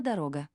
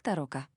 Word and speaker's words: дорога: Автор имел в виду слово «дорога». Как ни старались, немцы не могли произнести его правильно. У них всегда получался такой вариант, как «тарока».